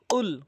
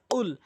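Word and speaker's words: قُلْ: আর কফটি যদি জিহ্বার গোড়া উপরে তালু থেকে উচ্চারণ করেন তাহলে সঠিক অর্থ দাঁড়াবে। কুল কফ এভাবে। কফ কুল।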